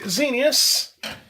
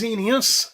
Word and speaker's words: Xenius: So, what we are looking at, if the silly thing will focus, it's a XENIUS. Now, X is always pronounced as sort of Z, and that's very similar to xenon, which is XENON.